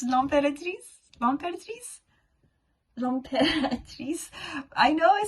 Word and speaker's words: L'Impératrice: Stranger Things soundtrack, then I'd recommend listening to Impératrice. I pronounced it wrong. It's L'Impératrice? L'Impératrice? L'Impératrice.